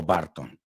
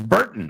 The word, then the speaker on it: Burton: No es Tim Barton, because that would be team, equipo Barton. Y no es Barton, it's Burton.